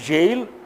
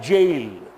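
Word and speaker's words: gaol: G-A-O-L, surprisingly, it means jail. It is also pronounced as jail.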